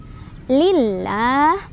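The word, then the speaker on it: لله: Lillah, lam jalalahnya dibaca tarkik ya, atau tipis.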